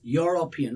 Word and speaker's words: European: Now, do you say European? If you're saying European, that's wrong pronunciation. It's a European. He's European. Look at that. Yo. The first initial here is yo.